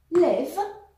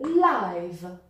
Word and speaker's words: live: Live, with a short e, as in it, or live, as in like.